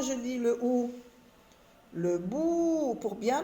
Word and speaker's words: bout: Le bout, un seul son. Bout, le bout. Le T est une lettre muette.